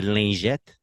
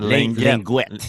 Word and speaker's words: lingette: Get the wipes, get the liquids, get the brush, get the lingette. That's how you say it in French. Lingette. Yeah, it's a soft G. Yeah. Not Linguette.